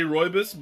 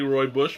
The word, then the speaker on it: rooibos: here it's all rubbish I always say rooibos but in this case I'd say Roy Bush because of the way that it's that it's spelled this one is going